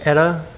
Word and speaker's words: Eta: slash hurricane etta ada i don't know how exactly you pronounce it because it's a greek word but the only basis i have on that is eta carina the star so i guess i'm gonna say etta even though it doesn't